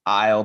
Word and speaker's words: Eull: And we'll get to all that, but we were talking before we started recording about your name, and everybody thinks it's Eull, but it's actually pronounced Eull, but you're kind of past it at this point.